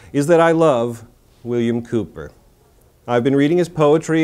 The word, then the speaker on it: Cowper: the works of William Cooper spelled C OWP er but pronounced with the usual English perversity Cooper it would seem we